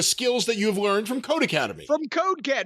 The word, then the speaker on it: Codecademy: for academy and it's pronounced code academy the same way it would be if it was two words and the e is